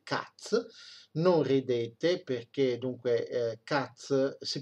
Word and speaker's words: Katz: occulta di debiti cazzo non ridete perché dunque cazzo si pronuncia così cup si scrive cat è un